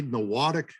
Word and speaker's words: Norwottuck: First off, how do you pronounce it? What is it? This is actually Norwottuck network.